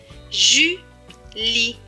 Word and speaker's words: Julie: J majuscule U. Cela donne jus. L et I, li. Suivi du E, mais qui ne se prononce pas puisqu'il est écrit en bleu. Donc, ce mot va se lire Julie.